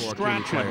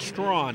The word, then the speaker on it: Strachan: And it is Strachan, right? Not Strawn, because some people will pronounce it Strawn, other people will say Strachan.